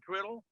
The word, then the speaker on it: Criddle: er done right so I'm here with Jason Crito I said it right Jason Krita right yeah but you got it right Mitch